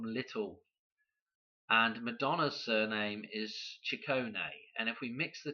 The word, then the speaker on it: Ciccone: okay Madonna chicone okay chicone is how that is pronounced I believe 114 okay now what